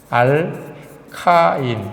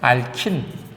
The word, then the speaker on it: 알카인: 물론 다른 책에서 옛날식 표현으로는 이것은 알칸, 알켄, 알킨 이런 식으로 발음했었습니다. 옛날에는. 근데 요즘에는 원어 발음을 존중한다 그래서 알킨이 아니라 알카인, 알칸이 아니라 알케인, 요것만 알켄 그대로 씁니다.